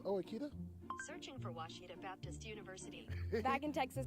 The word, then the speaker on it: Ouachita: oh Akita soon for Washita Baptist University back in Texas everybody pronounces it Wichita but really it's Ouachita Washington how would you